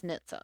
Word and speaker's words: NHTSA: pronounced it as NHTSA. NHTSA, yeah. NHTSA. So we do have a